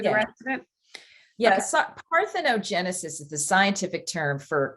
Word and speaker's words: parthenogenesis: okay so i want to make sure i'm pronouncing right it's called part arthrogenesis part orthono genesis parthenogenesis okay and that is the actual term for